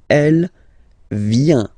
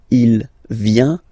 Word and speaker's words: vient: Il, elle, vient. Final T not pronounced. Il vient, elle vient.